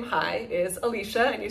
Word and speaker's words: Alicia: i c i a so it's spelled Alicia but pronounced Alicia uh but for my foreign friends in they romance languages if you are French or Spanish it's more natural to say Alicia and I welcome that